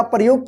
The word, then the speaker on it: प्र: तरह से लिखा जाएगा और इसका जो है उच्चारण आधा र होता है और जिस अक्षर में लगा रहेगा उसी अक्षर के साथ जो है ना र पदेन का उच्चारण होता है। जैसे इसको पढ़ेंगे प्र।